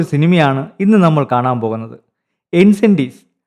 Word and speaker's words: Incendies: ഇൻസെൻറ്റീസ്. ആൻസന്തി എന്നാണ് യഥാർത്ഥ ഉച്ചാരണം എന്ന് പറയുന്നുണ്ട്.